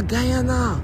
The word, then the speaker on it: Guyana: you're from where Guana in South America ah Guyana from okay I know in French we say